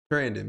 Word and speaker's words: Trandon: all right so like my name is Brandon but this like Brandon with the teeth yeah yeah like that's how you say my name and it's just you